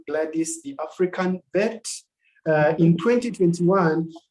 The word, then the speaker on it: Gladys: Did I pronounce that right, Doctor? Yes, you did. yeah, Dr. Gladys.